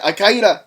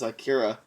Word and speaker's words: Akira: It's like it's funny because I was gonna say Al Qaeda. No, it's Akira.